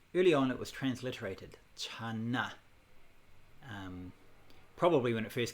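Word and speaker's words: 禪: character there after diana which is pronounced chan um is the same chinese and like the chan school of buddhism chan meditation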